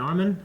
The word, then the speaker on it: Armin: 200 came back okay then Eren Mikasa and Armin that's how you pronounce it they joined 104th like that was